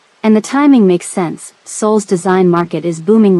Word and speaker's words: Seoul: What's Seoul? She asked, mangling the pronunciation.